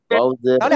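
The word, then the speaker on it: ت: দুই দাঁতের গোড়ায় লাগাবেন, জিব্বার আগা উপরে দুই দাঁতের গোড়ায় লাগিয়ে এক আলিফ টেনে উচ্চারণ করবেন, তা, তা, তা, তা, ঠিক আছে।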